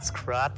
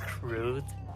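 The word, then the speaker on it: Scrut: Okay, so it's not Scrot, it's Scroot. Scroot? Apparently. In Japanese. In Japanese. Nice. I mean, I pronounce fruit because that's their usage for the letter U.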